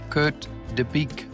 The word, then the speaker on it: Kurt De Bique: Welcome from Copenhagen in Denmark, Kurt Deique.